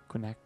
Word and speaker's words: Quinacridone: Quinacridone.